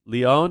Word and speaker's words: Lion: other leading candidate for mayor of Jerusalem, Moshe Lion, Lion. It's pronounced Leon, and I'm unfortunately spelled Lion, in Friday's Jerusalem Post, where he's going to speak about his platform.